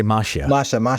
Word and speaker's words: Mascia: It's because everybody pronounces it differently, but I always say Mascia.